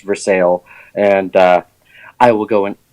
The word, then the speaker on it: Versailles: called Versailles there that it's spelled Versailles but it's pronounced for sale and I will go